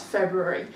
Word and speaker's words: February: We don't hear the or generally when we're speaking, so that's one of those ones with the silent letters we mentioned last week. You just need to be a little bit more careful about.